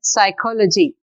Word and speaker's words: psychology: is only talk here in this next word psychology we are not pronouncing p in thumb we